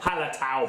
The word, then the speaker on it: Hallertau: Hallertau Blanc.